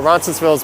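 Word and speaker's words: Roncesvalles: i have streamed through ronsonsville's before but i'll definitely go back yes i pronounced the s on the end of it i know that's a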